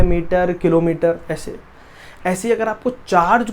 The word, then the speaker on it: Coulomb: कूलम की spelling होती है बेटा COULOMB, कूलम।